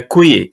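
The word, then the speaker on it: queue: in a in a qu in a qu q a that one's just pronounced it rhymes with who who Q Q yes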